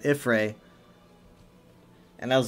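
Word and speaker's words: Y'ffre: would say, I think she said Ifra at a point, and I think I've heard it pronounced that way, but it's not really a thing that's often said, and I found it very odd. And then I noticed, like, after some time, she stopped saying Ifra and actually started pronouncing it Ifray.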